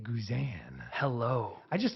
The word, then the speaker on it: Guzan: if you would have tell me that it's not pronounced guzan I would have told you to change your mind I'm really glad that that you're the first person who's ever said that to me because it should be pronounced guzan CU that just has